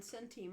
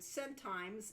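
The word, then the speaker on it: centime: I learned how to pronounce dinar and scentim only a couple years ago. The whole thing has been diner and scent times.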